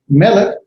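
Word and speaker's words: מֶלֶךְ: Melech, notice the caret on top, so its pronunciations on the first syllable, melech.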